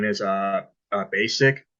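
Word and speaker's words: Besic: from uh Austria her name is uh uh basic it's spelled b-e-s-i-c and she is a she is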